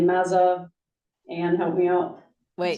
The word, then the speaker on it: Mazzocco: We don't have ours on the calendars yet for Jen, I can't pronounce her last name, Mazza, Ann, help me out. Wait, You, Jen Mazzocco.